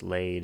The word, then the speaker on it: laid: Laid is pronounced to rhyme with bed using a poetic license.